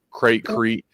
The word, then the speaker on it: Crete: It was called Crate, I believe. Crete. There's some pronunciation to it.